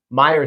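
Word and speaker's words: Meier: I'm pretty sure it's in Meyer, spelled M-E-I-E-R. He's got a very weird spelling to his name, Billy Meyer.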